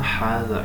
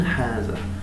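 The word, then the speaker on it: هذا: So the first statement is Ma hada is a question.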